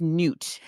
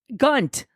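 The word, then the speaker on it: Gnut: So I listened to an audiobook and how'd they pronounce it? Gunt. And I'm like, no, it's G-N-U-T. It's Newt. No.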